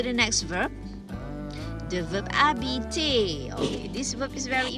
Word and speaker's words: habiter: Please remember the H is silent, so you don't say habiter, you say habiter, to live or to stay.